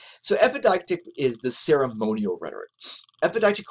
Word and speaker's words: epideictic: So epideictic, if you're trying to get that pronunciation, right? So epi makes not like needles, right? Epi, and it's deictic, right? So epideictic is the ceremonial rhetoric.